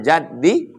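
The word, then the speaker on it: جدّ: Allahumma la mani'a lima a'taita wa la mu'tiya lima mana'ta wa la yanfa'u dzal jaddi minkal jadd. Man jadda bi fathil jim. Cara membacanya jimnya baris fathah. Jadd.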